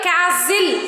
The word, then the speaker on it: castle: So, see here, castle. We are not saying castle, nestle, whistle. Do we say like that? No. There T is silent as it comes before the letter L.